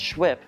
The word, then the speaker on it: CHWP: Also in the UC are the BSRC for Black Student Resource Center, our CHWP, pronounced SHWIP, for the Center for